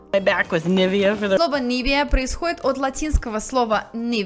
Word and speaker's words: Nivea: на они следующего бренда правильно он произносится как неве me why do опять обратить внимание на ударение она на первом слоге nivea nivea происходит от латинского слова